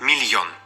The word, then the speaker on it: міль: звук пом'якшеним або напівм'яким приклад слово міль хоча тут є буква м'який знак звуку немає він лише вказує на те що літера л вимовляється м'яко тобто в цьому слові сім букв та шість звуків Дж та ДЗ можуть